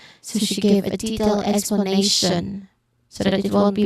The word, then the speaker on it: explanation: So in explanation the syllables are explanation. We hear the same stress on a not on t. That's because tio n is never emphasized.